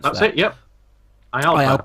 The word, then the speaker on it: IALPA: How am I supposed to pronounce That's that? it. Yep. IALPA, correct.